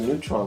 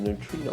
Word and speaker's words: neutrino: one of the button I've always called it the neutron one but I believe it is pronounced the neutrino one there you go you're